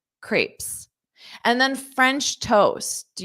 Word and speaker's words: crepes: can find them just for dessert notice this pronunciation Crepes Crepes Crepes and then French toast do you know this